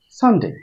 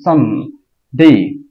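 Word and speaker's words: Sunday: আ হুম সান আন সান ডেই ওই ডেই এর মতো এটাও রয়েছে সেইম উচ্চারণ সান ডেই এই সানকে একসাথে বলে ফেলতে হবে এবং এস এর এখানে বা প্রথম দিকে চাপ দিতে হবে যেন আওয়াজটা মনে হবে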